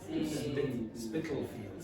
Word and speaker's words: Spitalfields: Spitalfields. Spitalfields. The way you pronounce it sounds like pedophiles.